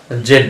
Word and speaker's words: Z: তারপর এটাকে আমরা জেড বলি, এটা উচ্চারণ ব্রিটিশরা জেড বলে, আমেরিকানরা এটা বলে জি।